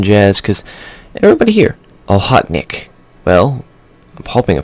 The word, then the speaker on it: Okhotnik: cuz nobody here I'll hot Nick well i'm hoping i pronounce that correctly but everybody's been telling me ohok nick is the pronunciation of it you know